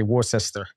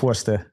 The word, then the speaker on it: Worcester: Yeah, a lot of people butcher it because the way you spell it is W-O-R-C like cat, E-S-T-E-R. So a lot of people say Worcester. But it's Worcester.